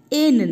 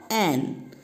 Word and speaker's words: an: N না, pronunciation an.